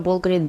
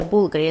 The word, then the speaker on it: BVLGARI: They changed the Bulgari name, and instead of the letter U, they put the letter V because in Latin it is pronounced as U. That's how the now iconic Bulgari logo was born.